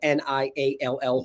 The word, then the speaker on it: Niall: For those on the podcast, just to clarify, that's not Neil Ferguson of Imperial College London. That's spelled Niall Ferguson. I tried to say it different.